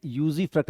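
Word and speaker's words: usufruct: They always use टू, इसको pronounce करते हैं यूजीफ्रक्ट.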